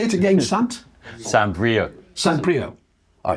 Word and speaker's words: Saint-Brieuc: It's Saint-Brieuc, not St. Bruick.